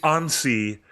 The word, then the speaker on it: Annecy: It That is the Annecy Animation Festival in France that we've been talking